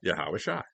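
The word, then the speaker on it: Yahawashi: Yahawasha, it sound like a sha at the end.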